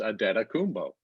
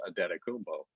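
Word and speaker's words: Antetokounmpo: guy their media people tell you how to pronounce and we ask their people you know and they said it's a data kumbo you know all the bucks people but we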